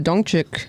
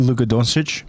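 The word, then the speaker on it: Luka Dončić: Oh, and Luca Dong uh Dongchuk is um Don Dongchic, how do you say his name? Luka Donich.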